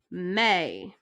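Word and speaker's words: mais: something else so this one is may may like the month of may all right and our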